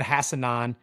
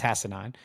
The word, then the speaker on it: Hassanan: And Ahmed Hassanan is second on the team. By the way, I checked it. That is actually how you pronounce it. It's Hassanan.